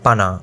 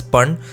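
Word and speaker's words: paṇa: p a n a panna or panna but it's actually pronounced as pun as you can see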